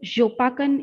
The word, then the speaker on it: Yopakan: my field work is yopakan pronounced as jopakan in champang however this village can't